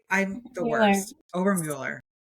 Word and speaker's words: Obermueller: So, please welcome Amarin Oberwell. Oh my gosh, I mess up your name. I do it every time. Ober, right? Did I say it right? I'm the worst. Ober Mueller.